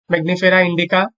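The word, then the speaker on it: Mangifera indica: আমের বৈজ্ঞানিক নাম হচ্ছে ম্যাগনিফেরা ইন্ডিকা।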